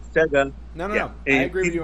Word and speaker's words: Sega: I know it has an E, but if you listen to the commercials, it's Sega. It's Sega. It's Sega. It's not Sega.